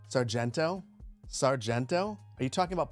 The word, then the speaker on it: Sargento: You don't know how it's pronounced, but according to the ad, it's pronounced Sargento.